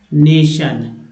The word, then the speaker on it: nation: जैसे टी, चलिए वर्ड ले लेते हैं, NATION, देखिए TI है, इसको स बोलते हैं। क्या उच्चारण करते हैं? नेशन।